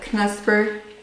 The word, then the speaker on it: Knusper: a um crunch bar how do you pronounce that knusper and that's perfect flakes or canesperflix yeah